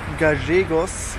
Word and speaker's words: Gallegos: Und ich befinde mich hier jetzt in Gallegos oder Gallegos, wie die Argentinier sagen, denn die Doppel-L wird in Argentinien J ausgesprochen.